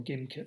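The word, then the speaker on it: Gimkit: able to play the game of gym kit or game kit as it's pronounced practicing with five themes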